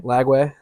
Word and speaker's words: Lagway: Lagway.